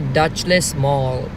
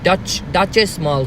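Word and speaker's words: Dutchess Mall: And I'm in the Dutchless Mall. Oh, Duchess Mall. Sorry if I pronounce it wrong.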